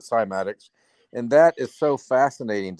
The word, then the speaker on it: cymatics: and you know Gene you mentioned climatics right I pronounce it cymatics and that is so